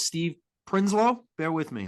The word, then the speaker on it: Prinsloo: a one-on-one with uh I believe it's Steve prinslow bear with me how do you say your last name uh principle yeah principally outstanding an egg yeah can I